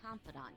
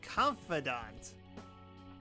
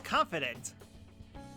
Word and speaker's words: confidant: I've been quietly making preparations to write a story about Shido's confidant, too. Oh, it's pronounced confidant. I thought it was confident.